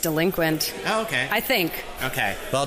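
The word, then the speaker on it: Delinquente: wrong but the AB delincuente wine company I think you're overly fancy fiying it I think it's just delinquent okay I think okay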